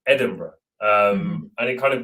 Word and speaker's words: Edinburgh: was actually my inspiration because obviously you don't say edinburgh the way you write edinburgh um and it kind